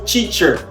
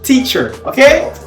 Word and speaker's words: teacher: Beaucoup de gens au lieu de prononcer "teacher" ils disent "titcher" mais ça c'est pas l'anglais. On dit "teacher" ?